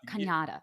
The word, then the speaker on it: Canada: Canada. Yeah. Canada Flintridge. Canada rhymes with Hanukkah.